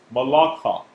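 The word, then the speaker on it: מַלְכֵּךְ: In this case, it's pronounced malakha.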